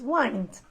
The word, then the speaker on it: wind: Careful with the pronunciation of this verb, because the noun is wind, but in this case the verb is wind.